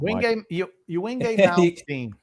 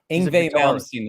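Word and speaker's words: Yngwie Malmsteen: Wingate Malmsteen. Ingve Malmsteen is how it's produced. Pronounced, I mean.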